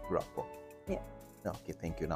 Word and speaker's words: Grapa: You told me to pronounce the name that way, Grapa.